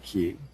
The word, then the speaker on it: chi: The Greek letter chi, pronounced ki, looks like the Western X.